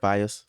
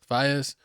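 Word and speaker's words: Faiyaz: Brent Fayez. Fayez.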